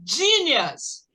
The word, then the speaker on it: genius: Então, he's a genius. Olha o E, aqui tem som de I.